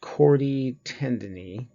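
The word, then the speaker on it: chordae tendineae: of it okay these this is pronounced chord e tendon E and this is referring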